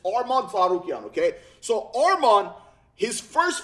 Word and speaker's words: Arman Tsarukyan: tarukan okay by the way that's how you pronounce his last name it's armad zukan okay so Arman his first fight in the